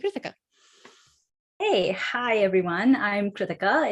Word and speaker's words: Krithika: I'm Krithika. It's pronounced like Ithaca, and I'm sure you'll get the hang of it as we keep talking.